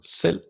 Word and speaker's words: selv: It is silent when we see it after the letter L. For example, selv, hal, and tol. And this is very important. I see or hear many Danish learners pronounce that V, and we're absolutely not pronouncing it when it's placed after an L.